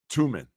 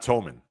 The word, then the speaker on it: Tuman: I believe it's Tuman, not Toman.